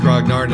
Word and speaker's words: grognard: of Napoleon water campaign but in English it's pronounced grognard and it means people who are very into